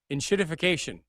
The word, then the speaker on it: enshittification: And how do you pronounce the word of the week? Enshittification.